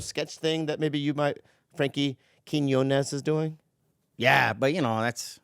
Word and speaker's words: Quiñones: Now we've got Frankie Quiñones here. Woo! I said it right? Right. Quiñones, Yeah, Quiñones.